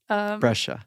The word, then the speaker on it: Brescia: Brescia. Yes. How do you spell that?